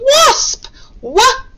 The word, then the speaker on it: wasp: picture is of a wasp wasp it's the o sound again spelt with an ah because we know that